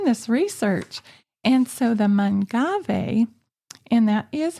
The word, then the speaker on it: Mangave: And so the Mangave, and that is how you pronounce it. Some people have pretty funny ways of saying that, but anyway, the Mangave's other cross is an agave.